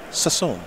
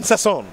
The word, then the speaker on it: Sasson: I will correct you, sir. Repeat after me. Sasson. Sasson. Yes. It's fun to say. Sasson. Excuse me. Sasson's too easy. It's like Sasser. Boring.